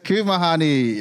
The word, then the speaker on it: Kumehani: get it wrong and they say Kumehanik because of the K at the end. But the K at the end is just for my last name. But yeah, so the way you say my name is Kumehani.